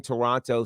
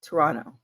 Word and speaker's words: Toronto: the bank weekend in Toronto SmackDown on Friday it's actually it's actually Toronto not Toronto if you say Toronto then I know you've never been to Toronto and you don't know